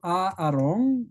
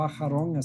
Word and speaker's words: Aarón: y está representado por Aarón, o Aharón, se escribe así, Aharón, que es el sumo sacerdote.